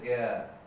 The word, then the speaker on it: জ্ঞান: এখানে জ্ঞান শব্দের উচ্চারণ হচ্ছে জ্ঞান, এখানে আকারটা হয়ে যাচ্ছে একার, জ্ঞান।